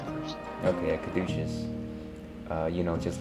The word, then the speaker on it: caduceus: A caduceus? I don't know what you call it. I believe you said it right the first time. Okay, a caduceus.